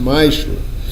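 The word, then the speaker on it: מעשר: It means tenth in Hebrew is pronounced ma'ashra.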